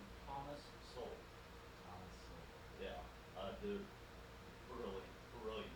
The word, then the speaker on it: Sowell: Yeah, do not forget that name, Thomas Sowell. It's like it's spelled like so well.